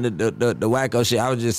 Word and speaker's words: Wack100: I'm Wacko, not Wack.